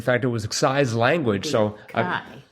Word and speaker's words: chi: So Kai, right? X is Kai. Um Kai O omega like Right. Uh let's see. Is that uh that's Greek. Well, anyways, it was but but but it's not Kai.